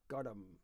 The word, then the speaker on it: gorm: kind of digum, like the Gaelic for the word blue is spelt Gorm, but between the R and the M you've got a joining vowel, so it becomes godum or brochen, which I think is the Gaelic for porridge.